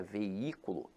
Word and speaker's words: veículo: esse jogo infelizmente agora a palavra veículo apesar de ter hiato veja que a sílaba tônica se encontra na anti-penúltima sílaba então aqui ela é acentuada pela regra da proparoxítona Então meus amores não